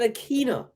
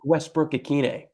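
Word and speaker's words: Westbrook-Ikhine: right you don't think I know how to pronounce my own guy's name you said akina it's a kid a Nick Westbrook Aquino there you go the mustache got it right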